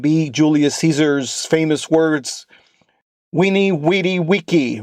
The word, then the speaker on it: veni, vidi, vici: Veni, vidi, vici. I pronounced it a little bit wrong on the first. It's veni, vidi, vici. That is the classical. The ecclesiastical is veni, vidi, vici. 2 different forms.